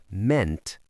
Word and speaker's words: meant: And notice the pronunciation here. It's a short e sound. Even though we have two vowels, mean meant meant.